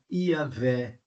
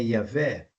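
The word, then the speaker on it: Yahweh: também por H Então como que ficaria a pronúncia desse nome em em em português ficaria yavé essa seria a pronúncia mais provável mas nós não sabemos a exata pronúncia do tetragrama Sagrado porque nem os judeus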